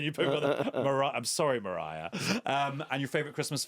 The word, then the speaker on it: Mariah: wrong and then you put Mar I'm sorry Mariah um and your favorite Christmas film uh oh